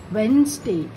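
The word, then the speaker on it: Wednesday: है स्पेलिंग में लिखने टाइम वेडनेसडे लिखेंगे, बट प्रोनाउंस करते टाइम इसका होगा वेंसडे.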